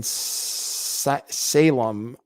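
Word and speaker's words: Salame: But he had a partner named Ryan Salem, I believe is how you pronounce it, even though it's spelled salami.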